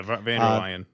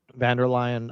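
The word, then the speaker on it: von der Leyen: Um, he was supposed to be meeting with uh, Ursula Vanderladen. Is that how you say her name? Yeah, Vander Lion. Yeah, Vander Lion uh, the head of the EU today and Kier Starmer tomorrow.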